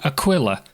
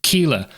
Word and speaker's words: Aquila: dollars on a constellation aquila or kila however you want to pronounce it there are aspects